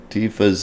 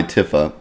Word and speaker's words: Tifa: a break google ok tifa's name divas name is pronounced with the long e Tifa rather than a short i Tiffa Tifa maybe shortened version